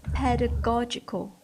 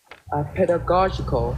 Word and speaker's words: pedagogical: There is one word you keep pronouncing wrong. Can you say again? Pedagogical. Pedagogical. Very good. You're missing one syllable.